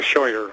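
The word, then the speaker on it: Scheuer: Michael Shyer michaeler yeah it's spelled s c h ER oh shower okay gotcha he's the former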